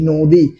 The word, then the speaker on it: নদী: তাহলে এখানে দন্তার নয়ের সাথে যদি কোনো কার না থাকে, তাহলে সমস্ত ব্যঞ্জন বর্ণের সাথে একটা স্বরধ্বনি থাকে, সেই স্বরধ্বনির নাম কি, অ। তো তাহলে এখানে নয়ের সাথে অ থাকার কারণে নয়ের ঔকার, দয়ে রস্যি, নদী।